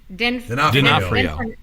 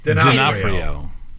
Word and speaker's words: D'Onofrio: And then Vincent, I'm going to say this right, D'Onofrio. What the hell is his name? D'Onofrio.